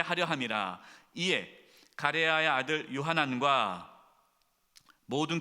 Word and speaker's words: 요하난: 호사야의 아들 아사랴와 가레아의 아들 요하나가, 이 요하나, 요하나가 요하나였나요? 요하난, 발음이 헷갈렸어요.